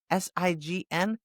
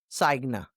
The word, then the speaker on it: sign: Listen to this. Sign, S-I-G-N, sign, not signa.